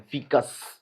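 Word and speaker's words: faeces: फीकस की spelling पता है क्या? एफ ए ई सी यू एस बोलते हैं। फीकस।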